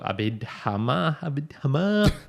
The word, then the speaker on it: Abhidhamma: So find an online sutta or abhidhamma. That's how you say it. Okay. That's how it's pronounced, people.